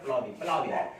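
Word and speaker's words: ploughing: What, ठीक है, the process of loosening और turning the soil is called tilling और प्लाविंग। इसको प्लाविंग पढ़ेंगे यहाँ पे, जी साइलेंट होता है, ठीक है, प्लाविंग पढ़ेंगे यहाँ पे।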